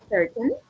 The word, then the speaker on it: certain: Because in the pronunciation we don't say certain, but we replace it for a glottal, and it's certain.